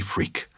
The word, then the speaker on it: Freke: And one was with a British philosopher named Timothy Freke, which is spelled Freke, but when you hear what he talks about, you'll just think, what a perfect name.